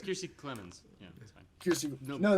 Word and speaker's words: Kiersey Clemens: I don't know how you can't pronounce. Yeah. It's Kiersey Clemens.